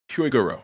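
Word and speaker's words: Hyogoro: He kind of as Huiguro, how do you pronounce it? Huigoro, you are correct, actually.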